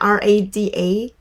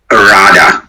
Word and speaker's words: Rada: So generally, it's exactly spelled like that, R-A-D-A? Rada.